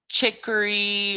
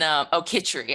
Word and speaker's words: khichdi: And she taught us how to make chicory, which is like a mushy lentil kind of dish. Chicory. And khichdi, I pronounced it wrong.